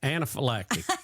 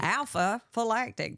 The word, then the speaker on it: anaphylactic: Anaphylactic. That's why I didn't want to say it right. Say it. Yeah. Anaphylactic. Alpha-phylactic.